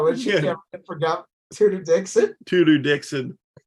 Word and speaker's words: Tudor: No, when she ran for governor, Tudor Dixon. But it's spelled like two-door Dixon.